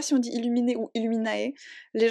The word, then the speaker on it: Illuminae: Je sais pas si on dit illuminé ou illuminae. Les gens ont tendance à dire illuminae, mais pour moi c'est du latin illuminé. Pour moi ça AE ça fait E, comme dans mon prénom.